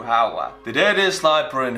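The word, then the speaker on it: Häyhä: history i am okay they pronounce the y with you howa the dead is sniper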